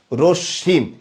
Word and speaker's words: রশ্মি: মনে রাখবেন মফলা যদি শব্দের মাঝে বা শেষ বর্ণে আসে তাহলে যেই বর্ণের সাথে আসছে সেই বর্ণটা দ্বিত্ব হবে, এটা হচ্ছে একটা কথা, এবং চন্দ্রবিন্দু হবে।